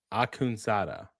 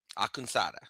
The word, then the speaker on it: Akunsada: So from what I was told, it's Narman Akunsada. Akunsada.